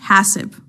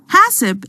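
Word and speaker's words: HACCP: is one such system it's pronounced hasip by the way hasip is based on identifying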